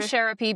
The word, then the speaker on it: Sherapy: I'm saying Sherapy because it rhymes with therapy, but that's what she was going for.